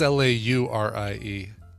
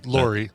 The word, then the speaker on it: Laurie: last name yeah that's l-a-u-r-i-e oh maybe i'm spelling it wrong no it is right i'm sorry l.a lori yeah but on him it's pronounced laurie but is it uh